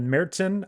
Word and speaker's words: Märzen: I've heard it also called Märzen.